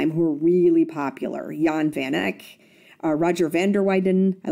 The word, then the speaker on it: Roger van der Weyden: It's actually pronounced Roger van der Weyden. The W is silent, very much like my maiden name. It's pronounced with a V.